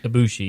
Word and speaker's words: Ibushi: Ibushi, yeah.